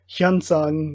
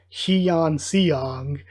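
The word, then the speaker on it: Hyunsung: major group yansang and like again that's like hyansang not heon xiong so it's like the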